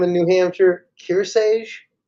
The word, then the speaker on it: Kearsarge: How do you pronounce that name in New Hampshire? Kearsarge? Kearsarge.